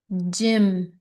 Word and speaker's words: gym: multi-llable, try the short I short, the I gym.